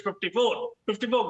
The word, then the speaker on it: LIV: And the 54, which some pronounce as live, but actually it's 54 golf that is played in Saudi Arabia.